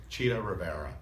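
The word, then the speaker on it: Chita Rivera: It's just It's just Cheetah Rivera. Cheetah. Well, that's because Americans do D's instead of T's.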